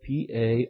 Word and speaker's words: parousia: It's spelled P-A-R-O-U-S-I-A, parousia, was a technical term for a visit